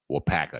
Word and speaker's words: Waupaca: I drove up to Waupaca, Wisconsin. That's how they say that. Waupaca.